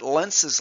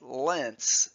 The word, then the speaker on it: Lenz: That's what Lens's law, that's where it comes into play. Lens's law, named after the physicist Emil Lence, pronounced Lent, not Lens, who formulated in 1834.